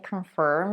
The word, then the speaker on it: confirm: conform conform can form the second syllable in confirm is also stress but it's pronounced with the star sound it's the same sound that we use in words like world and girl the star sound almost